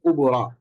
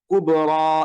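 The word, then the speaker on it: كبرى: যেমন ঈসা মুসা আরেকটা এক্সাম্পল আমরা এখানে দেখে এসছি এইযে কুবরা এটাও দেখতে পাচ্ছেন যেখানে শেষে একটা ইয়া আছে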